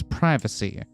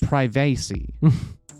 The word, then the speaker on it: privacy: moment you don said residents privacy not privacy like you're supposed to rhyme with primate that's what i was